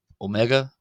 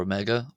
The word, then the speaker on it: ⲱⲙⲉⲅⲁ: other O only uh based off the Greek omega. So it can also be called uh omega omega as in as because it's borrowed from